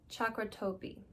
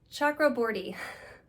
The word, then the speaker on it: Chakraborty: We have a Goodreads Choice Awards nominee, The Avengers Amina Al-Safi, Shannon Chakratorty. I know I butchered that last name, and I'm so sorry. It's Chakraborty.